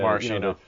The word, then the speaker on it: maraschino: In the Italian language, CH is a K sound, so they're actually called Maraschino.